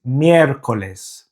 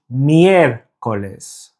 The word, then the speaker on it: miércoles: That just tells us that it's the first syllable that is the stressed syllable. So the pronunciation is miércoles.